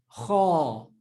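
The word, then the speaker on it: خ: speaking Afrikaans, the letter Kha is already in your vocabulary. You can already pronounce this letter. There we go. It's like the G in Afrikaans, like geld.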